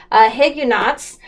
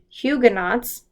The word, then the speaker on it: Huguenots: ended up having a grape a group of Higa nots and they were are Huguenots Hugh oh my gosh I just remembered Huguenots Alexa pronounced hu g ue and OTS I pronounce